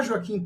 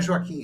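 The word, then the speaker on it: Joaquín: chegar os dados já joaquin turina ainda não é Joaquim é foque a pronúncia em espanhol era um compositor nacionalista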